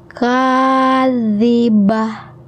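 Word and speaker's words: كاذبة: Awalnya kadzibatun karena wakaf atau penghentian, aturannya adalah berubah menjadi H kadzibah.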